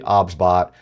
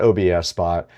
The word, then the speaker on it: OBSBot: The pronunciation of the product is actually OBSBot. It is not OBS Spot.